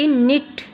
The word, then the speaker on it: knit: KNIT निट, के silent है यहाँ पर।